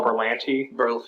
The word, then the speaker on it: Berlanti: Berlanti.